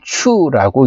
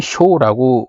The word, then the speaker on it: 初: 그래서 이 초라는 것을 중국 애들은 추라고 읽는 거고, 일본 애들은 쇼라고 한자 소리를 내는 거고, 우리는 훈을 처음이라고 하는 거고, 일본 애들의 훈은 뭐예요? 하지메예요, 하지메. 음과 훈이라고 할 때 훈이라는 건 뭐예요?